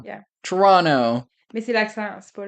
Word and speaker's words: Toronto: Non, Toronto, deuxième T c'est genre un N basically, genre. Yeah. Toronto.